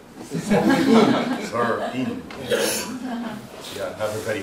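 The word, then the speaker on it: Seoul: I always want to pronounce it Solin, but you pronounce it like Sorin. Sorin.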